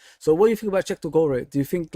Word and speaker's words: Cheick Doucouré: Cheick Doucouré.